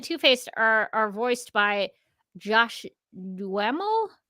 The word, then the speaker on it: Duhamel: that I know how a last name is pronounced. This, I'm glad. This is my moment. Duhamel, yes, that is correct.